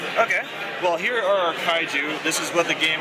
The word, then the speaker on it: Kaiju: Droid Guy, and we've got, how do you pronounce that? Kaiju.